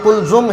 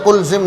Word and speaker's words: قلزم: پر بات ہو گئی، اور یہ قلزم ہے، قلزم یا قلزم نہیں ہے۔ نقات بھی ٹھیک ہے،